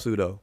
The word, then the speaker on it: pseudo: word pseudo starts off pseudo but anyway we can talk about that czy the p is silent all right no but